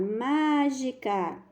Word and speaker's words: mágica: a palavra mágica Olha que ela tá acentuado mágica Qual é a mais forte já dá para